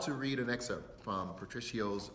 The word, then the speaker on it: Patricio: And we received a letter from Patricio, I want to make sure I say it right, Patricio, and the letter is 4 pages long, so